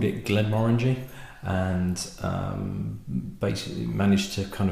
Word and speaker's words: Glenmorangie: 10, would be pronounced Glenmorangie, but the emphasis is on the second syllable, so it's actually Glenmorangie.